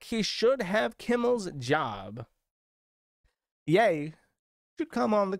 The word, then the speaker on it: Ye: we got Ethan Ralph ye or sorry I have to if I want to do that Ethan Raffles I have to say it correctly yay said put some respect